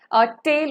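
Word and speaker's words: taille: The church extracted taxes called tithes from the peasants, and there was another a form of tax known as tail or tile. You can pronounce it either way, okay.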